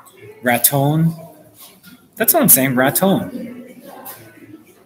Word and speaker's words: Raton: that's one same Raton it's not rotten it's rat time rat time so I'm pronouncing it right I lived Internet so I not have the vocals the locals say Raton not rut home all I see yeah